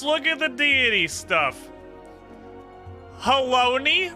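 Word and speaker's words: Halone: Haloni rhymes with Bologna.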